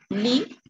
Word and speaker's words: lit: Et la même chose avec la troisième personne, et on ne va prononcer pas la lettre T, non? On ne le va prononcer. Simplement, il lit, elle lit.